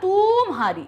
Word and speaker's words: तुम्हारी: की मात्रा नहीं होती हमने सही उच्चारण क्या बोला था तुम्हारी तो यहां पर ताकि नीचे कैसे मात्रा है छोटे यू की मात्रा है अब देखिए ये है